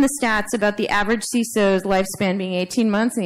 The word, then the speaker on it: CISO: Minus three, wrong pronunciation. It's CISO for information security. I mean, it's information, right?